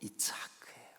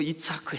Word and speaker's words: 이삭: 너 이차크 했어. 아니요, 저 이차크 안 했는데요. 너 이차크 했다니까. 아니요, 저 이차크 안. 한글로 발음하면 이거 너 이삭 했잖아.